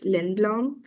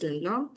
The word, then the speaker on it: Lindblom: Yeah, there's this thing called incrementalism by, if I'm not wrong, his name is pronounced as Lindblom. The theorist's name is pronounced as Lindblom.